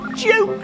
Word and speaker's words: joke: And just as we've seen before, an E is silent but strong. It makes the vowel sound long. Joke zone.